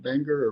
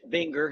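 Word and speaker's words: Buenger: Walter Benger, who is that how I pronounce that, Greg? Benger or Benger, yes.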